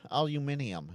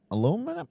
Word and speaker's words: aluminium: Yeah, it it's uh aluminium. Absolutely. Not alumin alumin aluminum. I can't even say it right. Aluminum. Yeah. No, it's aluminium.